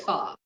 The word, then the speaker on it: pho: We ate Chinese / pho. Pho, The first pho, bit. Pho. pho. Is it, how do you spell pho? So, It's fa. Well, it's spelled like that, but you pronounce it fa.